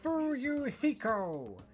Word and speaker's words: Fuyuhiko: last name is my first name is pronounced fuyuhiko i'm still an experienced member of my family's